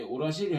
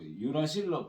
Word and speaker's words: 유라실: 연기 나와 있는데 이 사이토신하고 이 유라실, 나는 교재 때 우라실 했는데요. 유라실로 발음하기로 이제 바꿨어요. 유라실로. 사이토신하고 유라실하고 굉장히 화학 구조가 유사해요.